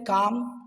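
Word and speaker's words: calm: मतलब होता है लोक सी ए एल एम काम पी ए एल एम पाम सी ए एल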